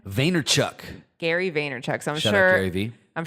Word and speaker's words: Vaynerchuk: Gary Vee has said before how do you pronounce his last name Vaynerchuk Gary Vaynerchuk so maybe I'm sure a lot